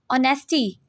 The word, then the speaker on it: honesty: Honesty. H is silent in this word.